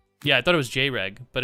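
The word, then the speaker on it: Jreg: It's pronounced J-Reg. Yeah, I know. It's Greg with a J.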